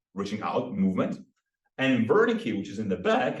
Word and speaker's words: Wernicke: Wernicke, or Wernicke, if you want to pronounce it in German.